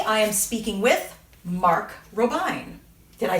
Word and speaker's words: Robijn: for games today i am speaking with mark robine did i say it right mark yes she